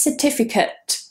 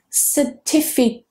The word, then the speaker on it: certificate: The next one is certificate. Certificate. Notice that I'm not saying certificate. Certificate, which is what a lot of students do. Certificate. So that ending is very weak. It's with a schwa.